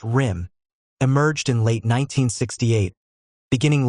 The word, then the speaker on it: RYM: The revolutionary youth movement RYM, pronounced RIM, emerged in late 1968,